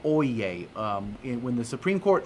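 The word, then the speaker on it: Oyez: not know this but they say oh yeah oh yeah oh yeah they say this three times it's spelled o-y-e-z and um it is a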